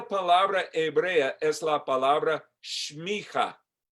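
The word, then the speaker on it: semicha: Esta palabra hebrea es la palabra shmicha. Shmicha. Se escribe S-E-M-I-C-H-A. S-E-M-I-C-H-A. Pero pronuncia shmicha.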